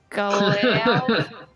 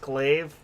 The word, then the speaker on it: glaive: Yeah, so I want to use the lesser galve. What is it called? The galve. Yeah, your How do you glaive. say that? It's pronounced glaive.